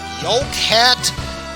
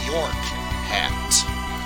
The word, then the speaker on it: York Hat: In the PS1 game, there was a headgear you can wear that's called the Yoke Hat. Here, it's pronounced properly as in the York Hat, as in the region Yorkland.